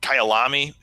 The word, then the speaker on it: Kyalami: Like, start off with how do you pronounce it? Kyalami.